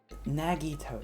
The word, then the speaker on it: Nagito: It's like Nagito, not Negito.